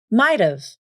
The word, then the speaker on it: might've: The same rules also apply to the phrase might have. This can be pronounced like might've, might've, I might have gone with you.